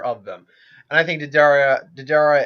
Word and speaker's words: Deidara: them, and I think Didara and Deidara, I think I'm calling him Deidara because I think that's how it's pronounced.